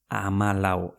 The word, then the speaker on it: amalau: Amalau.